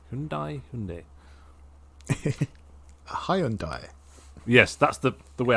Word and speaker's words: Hyundai: be in a focus he'll be back in Hundai Hundai Hundai Hyundai yes that's the the way I always pronounce it still pronounce it now but it's